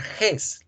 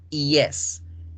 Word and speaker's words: yes: No significa que la palabra yes la van a pronunciar ges, la pronuncian yes, yes.